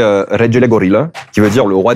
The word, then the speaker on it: Regelegorilla: Euh alors la vraie prononciation c'est en fait c'est du roumain donc c'est regel gorilla qui veut dire le roi des gorilles.